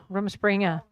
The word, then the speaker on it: Rumspringa: But let's talk a little bit about, I don't even know how to pronounce that, Rumspringa? Rumspringa.